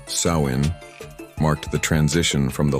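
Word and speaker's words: Samhain: Nowhere was this more true than in the Celtic lands of Ireland and Scotland where the ancient festival of Samine pronounced Sain marked the transition from the light of summer to the darkness of winter.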